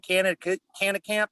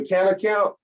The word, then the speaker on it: Cannakamp: Well, I guess my internal goal would be to keep this community in Cannakamp troll free. Spell that for me, cannakamp. Canna, like Canna, Canna, Camp with a K, like Mitch Camp, Mike Camp.